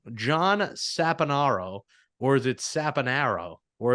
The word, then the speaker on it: Saponaro: A lot of people say Saponaro, so that's fine, but I say Saponaro. I like Saponaro because I say orange and not orange, and I say Same.